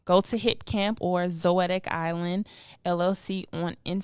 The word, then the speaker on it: Zoetic: It's called Zoetic Island, ZOETIC. It rhymes with poetic, so you can't forget it.